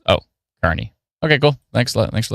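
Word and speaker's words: Kearney: Oh, Kierney is pronounced Carney by the locals. Oh, Carney.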